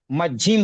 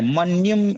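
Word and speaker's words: मज्झिम: से होगा है ना तो मझिम वो निय भी न की तरह सुनाई देगा। मजिम हो जाएगा। मन्यम ऐसा नहीं पढ़ेंगे। मजिम पढ़ेंगे उसको।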